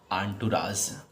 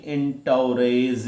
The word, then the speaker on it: entourage: ENTOURAGE, इसे हम लोग पढ़ेंगे बेटा, ध्यान रखना, आंटुराज। क्या पढ़ेंगे? आंटुराज। फिर ध्यान से देखो क्या पढ़ोगे। अब ये ना देख लेना कि इस तरह से कि एंटोरेज, इस तरह से आप निकालो ना, इसका प्रोनाउंसिएशन क्या निकलेगा?